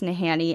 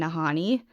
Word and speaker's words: Nahanni: And I've heard it pronounced both ways, Nahanni and Nahanni. I gravitate towards Nahanni, so that's just how I'm going to say it.